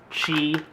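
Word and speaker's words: Qi: did with the Note 2 was install a chi it's Q it's spelled Q it's called pronounced Chi uh wireless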